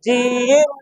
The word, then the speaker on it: জিম: যা, তিনবার বলতে হবে, জিম জবর যা। এই জিমের উচ্চারণ জিব্বার মাঝখান থেকে শক্ত, জিম জিব্বার মাঝখান থেকে শক্ত ভাবে আদায় হবে, জিম জিব্বার মাঝখান থেকে।